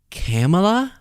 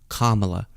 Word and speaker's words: Kamala: agrieved and act like it's so difficult to pronounce names that aren't Jeff or Bob. Wait, you're saying it's it's Camela? No, Kamala.